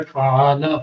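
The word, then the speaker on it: فَعَلَ: سے پہلا لفظ ہے فعال، فا زبر فا، عین زبر ع، فعال، لام زبر لا، فعال۔ یہاں پر 3 لفظ ہیں فا، عین، لام، اور تینوں کے اوپر زبر دی گئی ہے، اور تینوں کے زبر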